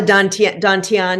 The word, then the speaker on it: dantian: three danteans in in Ocean talk about the dantian is that how you say it yes that